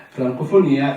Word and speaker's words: Francofonia: Possiamo dire che Arta russa e questo film di cui parliamo stasera, Francofonia, io lo pronuncio all'italiana, Francofonia è un film, è